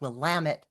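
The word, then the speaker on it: Willamette: Aaron Radniki is a nature enthusiast and author accelerator certified book coach based in Oregon's Will Lamit rhymes with damn it valley.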